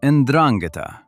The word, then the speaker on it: 'Ndrangheta: That title belongs to the 'Ndrangheta, pronounced 'Ndrangheta, and unless you follow organized crime closely, you have probably never heard of them.